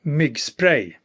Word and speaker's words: Myggspray: Let's have a closer look now, starting with the company's motion sensor, pronounced by Jon, my Swedish colleague. IKEA Myggspray.